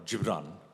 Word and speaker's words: Gibran: read it first, but Khalil Gibran, or Gibran, is the right pronunciation, the Lebanese philosopher, he said, love the idealism of youth and the wisdom of age.